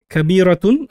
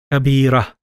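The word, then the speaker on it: كبيرة: I've got Kabiratun, as you can see, the tun sound at the end. And if I read it normally, Kabira, Kabira. So I end with a ha.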